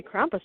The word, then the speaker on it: Krampus: people make so or so Merry Christmas Happy Krampus now and you're saying it correctly good job